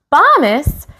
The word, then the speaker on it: Bombus: Bombus, remember it rhymes with Thomas, and that makes me